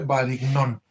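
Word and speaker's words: Varignon: Así se llama, se escribe Varignón, pero se pronuncia Varignón, el teorema de Varignón.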